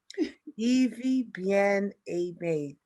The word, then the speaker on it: Ivie Bien-Aime: this beautiful um pronunciation yes my name is pronounced evie evie bien abe thank you very much for joining us on